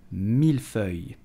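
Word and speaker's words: mille-feuille: accent so you will simply say milfei so pronounce it carefully the second word is difficult you will say yeah three Milford did you know that the term Milford is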